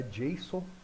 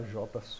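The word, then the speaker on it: JSON: de traduzir e organizar o correto da pronúncia é Jason mas de vez em quando eu posso falar J porque eu gosto de falar assim e às vezes dou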